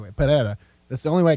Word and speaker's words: Pereira: I have to say it the right way Pereira that's the only way I can pronounce it he's a freak this guy is